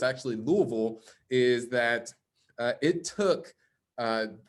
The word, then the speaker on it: Louisville: This was in, I like to pronounce it Louisville, Kentucky, but it's actually Louisville, is that it took the 7th attempt just